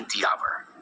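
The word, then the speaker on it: hour: वही आवर शब्द एच से शुरू होता है लेकिन एच का उच्चारण नहीं होता। इसकी शुरुआत आ की ध्वनि से होती है। इसलिए हम कहेंगे यानी द आवर।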